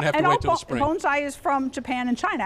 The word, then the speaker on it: bonsai: Valley View Farms in Cockeysville, and we're going to talk about bonsai.